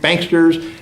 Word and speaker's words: banksters: Senate from Wall Street banksters, which rhymes with gangsters, and multinational corporations who have robbed millions of Americans of their homes and jobs.